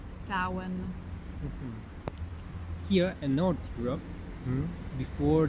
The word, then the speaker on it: Samhain: Not many people know how to pronounce Samhain correctly, and I don't know honestly if I'm saying it 100% correct either, but I think it's pronounced Samhain.